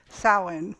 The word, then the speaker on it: Samhain: november 1st and they called it well it's pronounced i'm told samhain but it spells s-a-m-h-a-i maybe you've seen that